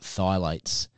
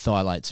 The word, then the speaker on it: phthalates: episode to listen to because they talked about phthalates and thigh lights are in just about all of your hair